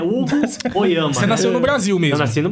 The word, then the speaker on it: Hoyama: Qual que é a pronúncia certa? Oyama? Oyama. Oyama, igual eu falei, né?